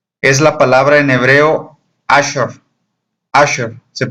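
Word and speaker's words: אשרי: Bienaventurado es la palabra en hebreo Asher. Asher, se pronuncia Asher, que significa una persona feliz, dichosa, plena, completa.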